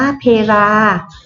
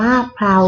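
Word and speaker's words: เพลา: บ่อย ๆ นะ คะ คำ แรก เรา อ่าน ว่า เพ ลา ส่วน คัน ที่ สอง เรา อ่าน ว่า เพรา นะ คะ เห็น ไหม คะ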